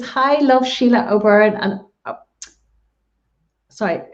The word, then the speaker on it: O'Beirne: Brita Kelly says, "Hi, love Sile O'Beirne." And sorry, it is O'Beirne. My mother's name was Byrne, so it's spelled the same way.